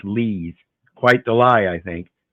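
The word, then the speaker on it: Lies: L-I-E-S, and somehow it's pronounced Lees.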